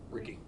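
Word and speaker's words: Ricci: It's pronounced Ricky. Ricky.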